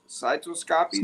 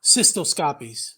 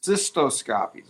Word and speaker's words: cystoscopies: This type of testing may lessen uh the need for repeated cyto cytoscopies. Is that systo? I I pronounced it wrong. Systoscopies. Cystoscopies.